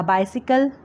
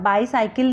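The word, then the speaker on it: bicycle: उसके बाद तुम साइकिल चलाते हो, यू राइड अ बाइसिकल, अब बाईसाइकिल नहीं बोलना इसको, बाइसिकल, क्योंकि हमें इंग्लिश में प्रोनाउंसिएशन का भी ध्यान रखना होता है।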